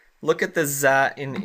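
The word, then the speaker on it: ظَ: It's a dash that we write above the letter, and we pronounce it za, like that.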